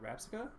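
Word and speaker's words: Rabsca: For Karate Man, we got that Gyarados and that Gohalego, with that Salamence, the Iron Valiant, that Crocodile, and the Rapsica.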